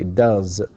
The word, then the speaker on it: does: vow so we say does and it's it's written uh s of course looks like s but it is pronounced Z and here this is